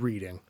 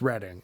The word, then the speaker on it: Reading: We're called Reading, after the town in England. And thank God I asked my stepdad today, who's English, because I would have said reading. But it's Reading, and I knew that.